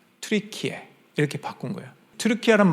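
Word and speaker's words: Türkiye: 칠면조도 아니고 겁쟁이도 아닌데 영어 발음으로 자꾸 터키 터키 하니까 이게 안 좋은 거야 발음이 자기들 발음 트리키에 이렇게 바꾼 거야 트루키아라는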